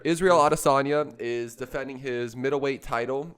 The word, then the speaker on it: Adesanya: exactly autosomia that's right yeah that's right israel otasanya is defending his middleweight title against robert whittaker